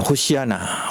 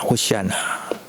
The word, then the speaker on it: 호시아나: 호시아나. 호시아나. 그런데 이 호시아나라는 히브리어를 헬라어 발음으로 읽으면 호산나가 되는 거예요.